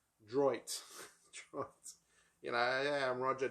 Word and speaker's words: Droit: book I have read Roger Paul D that's how you say it droit Dro you know I'm